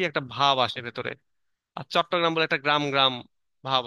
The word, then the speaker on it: চট্টগ্রাম: আমরা ওই তোমাদের তোমরা এখন ধরো, যেমন চট্টগ্রাম আর চিটাগং, তাই না? চট্টগ্রাম উচ্চারণ করতে পারতেছিল না বলে সেখান থেকে চিটাগং হয়েছে।